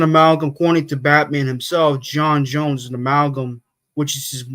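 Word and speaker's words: J'onn J'onzz: character he's an amalgam accy to Batman himself Jon Jones is an amalgam which is which is how his morsh name is pronounced some people say it's JN JNS it's actually J Jones and good to know um anyway what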